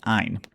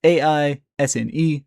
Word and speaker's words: Aisne: You have the first, second, and third battle of the Aisne. That is A I S N E, the S is silent.